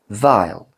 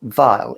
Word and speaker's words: Weil: never talked about called, I would pronounce it Weil. That sounds awful. Weil. It's W-E-I-L. Perfumes. In German, that means because. Weil.